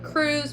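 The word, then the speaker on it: krewe: If you don't know, Carnival is organized into crews, which are the clubs, and each crew, and it's pronounced as though it were spelled C-R-E-W, but it's actually spelled here K-R-E-W-E.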